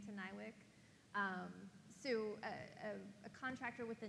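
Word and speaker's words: NIWC: A about this, but is, I'm going to pronounce this correctly, Nywick? Nywick.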